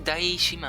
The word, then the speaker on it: DaiShima: Actually, what turns people off is like, did people like doubt themselves that it's pronounced like die? Because it's like that sounds wrong. No, it's die.